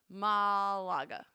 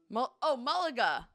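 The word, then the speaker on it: Málaga: Malaga.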